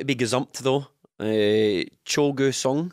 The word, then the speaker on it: Cho Gue-sung: big zombie though uh cholga song I think is how you pronounce it um I I don't